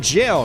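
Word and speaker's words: gaol: and do it again GAO is Old English today we call it jail let's pronounced the same way expect despite the change in spelling very interesting it's called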